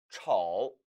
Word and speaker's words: 丑: 즉 못생겼다라는 의미로 쓸 때는 丑, 삼성이 된다는 것 아울러서 함께 이해하시기 바랍니다. 악취가 나다, 냄새나다, 臭, 못생기다, 丑, 성조 혼동하지 않도록 유의하시기 바랍니다.